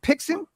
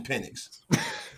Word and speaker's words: Penix: Is it Pixon? Penix.